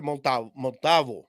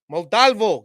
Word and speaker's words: Montalvo: Victor Montavo Montalvo. Damn, bro. You freaking call yourself Chicano and you can't even pronounce this fool's name.